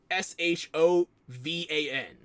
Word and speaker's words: Siobhan: They spell it more like Shodan than Siobhan. Like, Shovan.